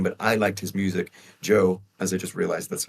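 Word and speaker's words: Djo: TV show came but I liked his music Joe as I just realized that's how you pronounce it not DJ Joe and uh I love his music and I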